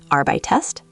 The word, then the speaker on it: arbeitest: Wait, arbeitest has an extra E sound in the middle. Great ear. Some stems ending in te or de often add an extra E before st and te to make it pronounceable.